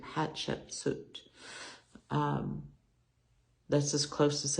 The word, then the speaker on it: Hatshepsut: was a woman named Hatchet set told if you pronounce it think of it like hot chicken soup Hatchet suit um that's as close